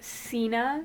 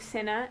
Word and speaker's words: Cinna: I remember, I always said Cena instead of Cinna, and I said Cato,